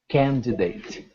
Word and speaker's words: candidate: You say it the way it's spelled. Candidate. All right. Candidate. Candidate. All right. Similar to candidate, but not so much E as a short I.